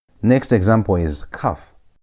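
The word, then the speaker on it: כ: Next example is cuff. When cuff has a dot, it's pronounced like a normal K. It's K sound as in the word king. But when cuff has no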